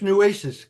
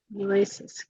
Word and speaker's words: Nueces: That's Nueces County. Nueces.